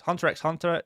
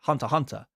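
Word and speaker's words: Hunter × Hunter: Hunter X Hunter. Oh, sorry. Not pronounced Hunter X Hunter. It's Hunter Hunter is better.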